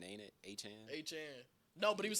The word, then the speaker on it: Etienne: His I name said, not- I'll be mad if somebody start emailing about Oh yeah, it's not even it's a Chan, ain't it? A Chan. Etienne.